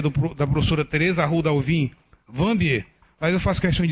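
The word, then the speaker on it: Wambier: questão de dizer que a pronúncia correta não é Vanbier, é Vanbier. Enfim, faz parte da opção de escrita do nome dela.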